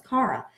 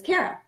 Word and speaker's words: Kara: In fact, when Ken first met me, he thought my name was Cara. That's not my name. My name is Kara. That's how I pronounce it.